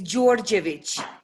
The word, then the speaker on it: George: difficult to say is say it for me it's george george okay that is good